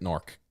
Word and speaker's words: Newark: Pronounce it Nork. Don't be a dork. Pronounce it Nork.